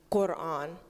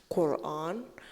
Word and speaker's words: Quran: So, Quran, I think it makes the same sound as like quack, Quran.